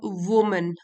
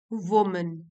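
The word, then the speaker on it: women: WOMAN, ये इसको बोलेंगे वुमन, वुमन। और अगर ये प्लूरल है मतलब कि ई आता है, तो इसको प्रोनाउंस कैसे करते हैं, वीमेन, वीमेन।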